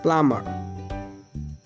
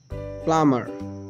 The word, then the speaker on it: plumber: Plumber. Plumber. In this word, B is silent.